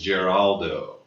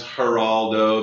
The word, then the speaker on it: Geraldo: my actual name is Geraldo Geraldo Geraldo would be the Italian pronunciation and ever since I